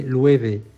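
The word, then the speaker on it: Loewe: et le W se prononce V, donc c'est Louévé.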